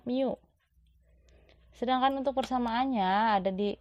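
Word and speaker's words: μ: = miokard dikali n ini bacanya Miu Sedangkan untuk Persamaannya ada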